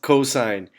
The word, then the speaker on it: cosine: cos or cos or cuz or whatever it's pronounced cosine so the cosine of angle a is the